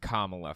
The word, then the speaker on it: Kamala: uh 2024 primary uh okay her name is pronounced Kamala first of all and second um yeah Trump